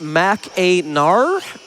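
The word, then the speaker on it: Mackinac: Macak is actually pronounced Mac Aar.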